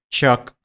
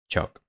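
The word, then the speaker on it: Ćuk: como Cook pero aquí faltaría como un apóstrofe sobre la c se pronuncia shock en honor a su inventor serviocroatas lobo Dani shock vale la pronunciamiento correcto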